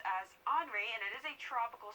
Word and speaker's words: Henri: Sorry for last week, I was pronouncing it as Henry, but this is actually pronounced as Henri, and it is a tropical storm, 70 miles